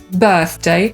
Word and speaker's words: birthday: /ɜ:rθ/ i „urodziny” — „birthday” /ˈbɜːθdeɪ/ lub /ˈbɜ:rθdeɪ/. I żeby ułatwić sobie wymowę słowa „urodziny”, warto przed tym członem /deɪ/ zrobić króciutką pauzę: birth, day.